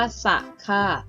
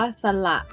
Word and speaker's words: สระ: ได้ นะ คะ สำหรับ การ อ่าน ออก เสียง แบบ ที่ 2 ให้ ออก เสียง ว่า สละ ซึ่ง หมาย ถึง อักษร ที่ ใช้ แทน เสียง สั่น เอง ค่ะ เมื่อ นำ คำ